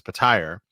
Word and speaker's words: Petyr: Dotrice reads it as Patyr, is right.